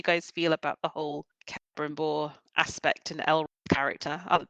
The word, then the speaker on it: Celebrimbor: And how am I pronouncing this? Celebrimbor, the guy who Yeah, makes that's the right.